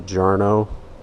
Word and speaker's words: Jarno: I've read that this is supposed to be, I think it's pronounced a Jarno taper.